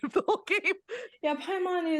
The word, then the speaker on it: Paimon: Yeah, Paimon is exactly how to say it.